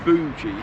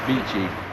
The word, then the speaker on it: Beauchief: It looks like Beauchief, but we live around here and it's Beauchief. Then it renamed to Beauchief and Abbey Dale.